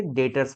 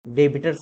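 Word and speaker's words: debtors: पढ़ेंगे हम यहां पे ये बी वर्ड जो है साइलेंट होता है हम इसे डेटर्स पढ़ते हैं डी टी ओ आर एस सो बी साइलेंट है डेटर्स डेबिटर नहीं बोलेंगे तो वही चीज यहां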